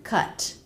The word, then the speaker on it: cut: too much the word cut is pronounced with the K consonant sound the UH as in butter vowel and the T touch the back of